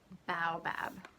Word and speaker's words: baobab: that right now okay turns out I was saying it wrong babe oh babe it's baobab baobab did you hear that one more time baobab so that's baobab